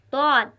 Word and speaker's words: ضاد: پڑھا جا رہا ہے۔ تیسرا حرف ہے طاد، طاد۔ یہ بھی موٹا پڑھا جانے والا حرف ہے۔ اس کا تلفظ زبان کے بائیں کنارے سے نکلتا ہے۔ جب ہم طاد ادا کریں گے تو یہ بھی پر پڑھا جائے گا اور موٹی آواز میں